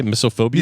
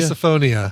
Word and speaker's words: misophonia: And in this case, we're going to talk about uh Brian's miso, how do you say, misophobia? Misophonia.